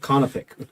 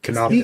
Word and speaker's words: canopic: it's canopic. Canoptic.